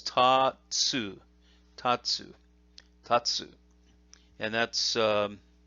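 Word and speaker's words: 竜: is it is and that's ryu in in english the r almost sounds like a d when you say it properly and it's a long it's a long oo sound there through so the kunyomi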